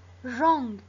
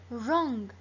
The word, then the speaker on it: wrong: Wrong. ما بنلفظ ال W. Wrong. The W is silent.